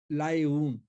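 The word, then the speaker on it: Laayoune: Western सहारा, इसकी capital है लाएऊन, LAAYOUN, लाएऊन।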